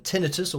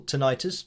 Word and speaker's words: tinnitus: had the same um tinitus or tonitis depending on how you say it but I had that